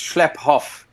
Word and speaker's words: Schlaphoff: So I've had a lot of trouble with that surname all the way since school, but it's Schlaphoff. Schlaphoff. It's a German surname, but we're very much South African.